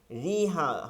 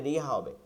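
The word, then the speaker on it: مجريها: জবরের মধ্যবর্তী কেমন হবে জের ও জবরের একটা মধ্যবর্তী অবস্থানে জেরও হবে না জবরও হবে না তাকে এমালা বলে পূর্ণ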